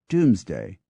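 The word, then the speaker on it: Domesday: was pronounced mood and home rhymed with Gloom which which is why d o m s d a y book is pronounced and sometimes called Doomsday the word has nothing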